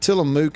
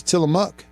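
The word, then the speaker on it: Tillamook: Uh Bill says that I'm supposed to pron pronounce it's not tieamuk. It's tieuk. Tiele products are from the Pacific Northwest.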